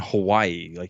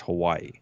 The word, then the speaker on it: Hawaii: Because even in Hawaii, it's not pronounced Hawaii. It's Hawaii.